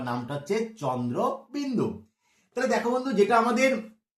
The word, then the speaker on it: চন্দ্রবিন্দু: এই দেখো এই যে চাঁদ, দেখেছো যে চাঁদ, এই চাঁদের মতন দেখতে সাদৃশ্য আছে বলে সবাই বলে চন্দ্রবিন্দু চাঁদ, চন্দ্রবিন্দু চাঁদ।